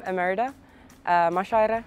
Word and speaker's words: Emerita Mashaire: all please just share with us uh the pronunciation of your name thank you coach so hi i'm emerita mashaira and like coach said i'm from finland and